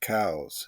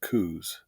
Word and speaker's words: Coues: the wh tailed deer to be technically correct it is pronounced cows it is named after Dr Elliot cows a naturalist an army